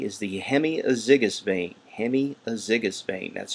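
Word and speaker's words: hemiazygous: blood back to the heart b is the hemiazigous vein hemiazigous vein that's spelled h-e-m-i-a-z-y-g-o-u-s hemiazigous vein c is the posterior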